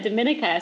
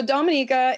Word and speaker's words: Dominica: I guess I said Dominica, so I'm saying it wrong. It's okay. It's so Dominica is our island.